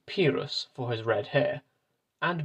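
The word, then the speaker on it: Pyrrhus: at this point that i've just discovered i've been saying that name wrong for the past few episodes i'm going to try and switch to the new pronunciation and just hope that this doesn't confuse you all too much but anyway pirus is the correct version not pirus as i've been saying but back to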